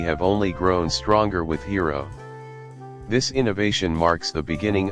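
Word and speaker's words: Hedera: all participants May Thrive hero even though I'll call it hero I think Hera is the correct pronunciation one official project of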